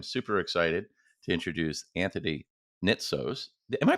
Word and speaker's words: Nitsos: today I am super excited to introduce Anthony nitos am I pronouncing that correctly you are all right awesome